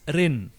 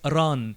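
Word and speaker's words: ⲣⲁⲛ: will pronounce it as Rin and the people who studied Coptic and they know the meaning of name in Coptic they will read it as ran you see ah is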